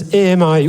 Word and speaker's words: AMI: we use and it's amii. We actually pronounce it the French way, ami, which means friend.